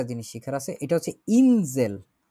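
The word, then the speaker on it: Insel: এইখানে হচ্ছে একটা জিনিস শিখার আছে, এটা হচ্ছে ইনজেল। দি ইনজেল, এটা হচ্ছে দ্বীপ।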